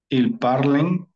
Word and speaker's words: parlent: Je parle, tu parles, il parle, elle parle, on parle, nous parlons, vous parlez, ils parlent, elles parlent. Parlen. Oui, parle. ENT no se pronuncia.